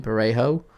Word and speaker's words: Parejo: Parejo City under pressure can't find the pass and oh they do get a free kick.